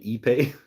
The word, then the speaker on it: ipe: Hatchet handle no Walnut are you saying eBay ipe is how you spell it eBay it's like an